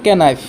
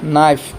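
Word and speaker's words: knife: পিছ একটু কি পরিবহতে বহতে কি পরিব কানাইফ কইফ পরিবট কিন্তু সঠিক উচ্চারণ হল নাইফ কি নাই টু কি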